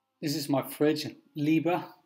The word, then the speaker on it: Liebherr: this is my fridge Libra believe that's how you pronounce it it's a German did a lot of